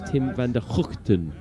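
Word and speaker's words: van der Gugten: they were telling me the correct way to pronounce tim's name is tim vanderhoften which i don't think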